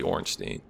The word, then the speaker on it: Ornstein: same way, so there are different ways to pronounce that, but this guy's name is actually Ornstein.